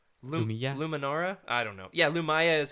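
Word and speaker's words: Lumiya: Lumaya. Yeah, that's right. Thank you for what have I been saying? Luminara. I don't know. Yeah, Lumia is how I say it.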